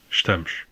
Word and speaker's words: estamos: Estamos. Estamos. In this word, you can hear the difference in the S sounds, sh in European Portuguese and s in Brazilian Portuguese.